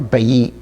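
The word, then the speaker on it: בית: And then we have another house that we're familiar with that's called Beit or Bayit, and that means a house, and that's spelled with a Bet, a Yod, and a Tav.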